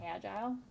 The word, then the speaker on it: agile: Some people pronounce it agile, so, in the picture, I thought this was really good.